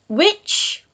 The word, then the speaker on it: which: thing a fun thing for you to do which w y t c h so it's the